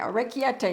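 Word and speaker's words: orecchiette: Now, this is called a rake or rake a tay or or rake a tay or something like that. I had the computer pronounce it for me, but those of you that know Italian, or rake yet tay. Or rake yet tay maybe. Or rake yet tay. That's it.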